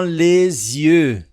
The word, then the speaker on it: les yeux: Dans les yeux. Dans les yeux. E aqui nós temos uma ligação com o som de Z.